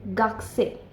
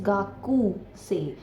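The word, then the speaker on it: gakusei: वो यह है कि अगर आप रोमाजी में इसकी स्पेलिंग देखेंगे तो वो है जी ए के यू एस इ आई वि इज गाकू से बट इसको हम गाकू से नहीं बोलते हैं इट्स गसे गा ओके यू साइलेंट हो जाता है ये कु क ना बोल के हम क बोलते हैं गक्कसे गक्कसे मींस स्टूडेंट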